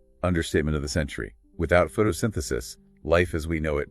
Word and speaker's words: photosynthesis: P H O T O S Y N T H E S I S. Photosynthesis. Photosynthesis. Stress on sin.